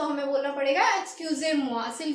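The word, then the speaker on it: excusez-moi: उसके बाद आता है हमारा EXCUSEZMOI और इसको प्रोनाउंसिएशन इसकी है EKSCYOOZAYMWA, यानी कि एक्सक्यूजे मुआ।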